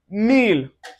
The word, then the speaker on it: miel: There are exceptions to this and an example of this exception, you can see it in words like miel.